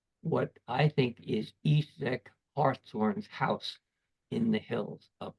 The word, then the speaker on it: Hartshorn: But in fact, his name and his pronunciation was Hartshorn, because in this heraldry device, you can see hearts, or what the English called heart, deers. And so the family was actually Hartshorn.